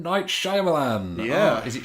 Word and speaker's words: Shyamalan: Night Shyamalan. Yeah. Is it Shyamalan? I can never remember. It's Shyamalan, isn't it? But it's spelled Shyamalan.